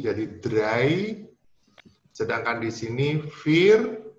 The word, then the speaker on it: vier: Sedangkan di sini vier itu IE dibacanya secara panjang saja vokalnya, jadi vier.